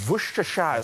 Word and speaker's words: Worcestershire: Sorry, that was a Worcestershire sauce. That wasn't gonna say it like the Shire.